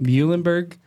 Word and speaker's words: Muhlenberg: Muhlenberg College and later completed a PhD in chemistry